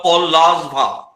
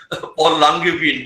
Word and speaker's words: Paul Langevin: his correct pronunciation of paul larswa earlier we used to pronounce paul langevin by the spelling but he corrected us saying that it should